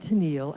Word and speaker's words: Tennille: And then on the label was the correct pronunciation. I said, the Captain and Tennille, and I put it on the turntable, and I fell off the chair.